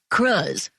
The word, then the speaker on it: Cruz: My friend, Eric, dubbed the substance Cruz, rhymes with scuzz.